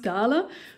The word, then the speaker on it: Dahle: It's a German brand, so I think it's pronounced Dahle 561.